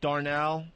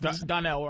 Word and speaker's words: Donnell: I went to see Bill Burr, Darnell. Is it Darnell? Donnell. Donnell. Donnell.